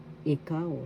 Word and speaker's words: ikaw: singular first syllable e second syllable ikaw second syllable has the accent ikaw that means you